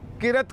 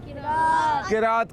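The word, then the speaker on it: قراءت: دیکھیں کچھ بچے کہتے ہیں قرت کرنا, سنا ہو نا, قرت کہتے ہیں. قرت غلط ہے, اصل تلفظ کیا ہے اس کا؟ قرات کرنا.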